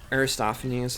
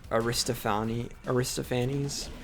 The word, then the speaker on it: Aristophanes: Or like Aristophanes is like a famous playwright, but apparently it's actually Aristophanes. Like it's not even off by that much. It's just like stressing the wrong syllable, I guess.